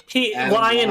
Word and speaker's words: Lyon: Lion was his last name. Yeah. But they it's Lyon, but they misspell it with an I, so they think he's an animal. Reminds me of the episode.